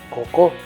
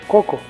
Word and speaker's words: coco: dice haiga sio haya que en cada palabra hay una vocal que se pronuncia más fuerte como al decir pájaro ya que no decimos pájaro así como tampoco decimos cocó sino coco de esta manera mediante